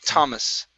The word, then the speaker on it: Thomas: time instead of Thomas okay the name t Thomas Thomas there you go okay let's practice discolored teeth okay so when you pronounce teeth it's instead of th teeth discolored